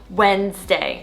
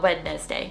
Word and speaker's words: Wednesday: Yeah, just simplify it down to 2 syllable Wednesday, not Wednesday.